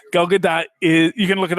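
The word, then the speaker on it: Gadot: do Gad do it's you do pronounce the t gadat is you can look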